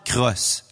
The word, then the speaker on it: Cros: conclut avec succès par le poète français charles cros je vous ment paul son nom se prononce vraiment comme solo j'ai vérifié l'alphabet phonétique